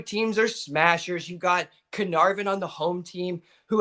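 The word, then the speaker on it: Caernarfon: It's Canar. It's like K R and then N A R N A A R and then it's like VN. Canarvin. Canarvin.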